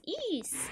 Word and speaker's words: Ys: Ease.